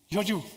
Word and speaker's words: Georgiou: Do I pronounce this right? Georgiou, okay, thank you very much.